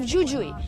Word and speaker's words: Jujuy: The The village of Purmamarca is in the province of Jujuy, but in Spanish it's pronounced X in both cases.